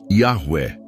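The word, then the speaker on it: Yahweh: No entanto, a forma mais precisa de pronunciar o nome de Deus seria algo mais próximo de Yahwé e não Jeová.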